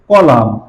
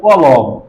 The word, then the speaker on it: কলাম: এর কাজ করার সময় তারা সুন্দর করে কলাম উচ্চারণ করতে পারে না, তারা বলে কলম। যে আজকে কলম ঢালাই দিব, কলম বানাবো, বা এই বিল্ডিং এ কয়টা কলম, তারা কলম কথাটা বেশি বলে, এটা অ্যাকচুয়ালি কলাম।